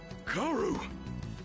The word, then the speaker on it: Kaoru: Kaoru! Yeah, so that is how you pronounce the name.